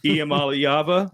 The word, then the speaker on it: Iamaleava: And even the announcers on TV, they can't pronounce his last name right. So, Iamaleava, Nailed it.